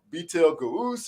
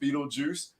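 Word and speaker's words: Betelgeuse: I was like, man, this is, you know, Beetle Goose or Beetle Ghost. I don't even know what it says, you know? So just for everybody knowing, and when you read it, it is pronounced Beetlejuice.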